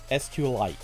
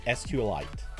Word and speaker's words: SQLite: supposed to be pronounced sqlite you're actually supposed to yeah you're actually supposed to smash together sql and light it's supposed to be sqlite i'm i wish i